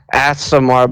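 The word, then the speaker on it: Aasimar: How do you pronounce my character's thing again? Asimar, but you're a druid and your parents died and you wouldn't know you're an Asimar.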